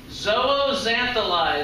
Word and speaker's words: zooxanthellae: there's a type of dinoflagellate called a zooxanthellae zooxanthellae is how you pronounce that word everybody says zooxantheli on three one two three important dinoflagellates that